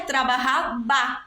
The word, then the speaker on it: trabajaba: Porque a letra V, em espanhol, ela tem som de B. Então, mesmo que a palavra em espanhol fosse escrita trabalhava, a gente pronunciaria trabajaba, porque o V tem som de B.